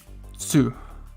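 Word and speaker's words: つ: would be ku it's tsu so it's e-s-u and the t and s are pronounced together and the u the u is separate so it's and then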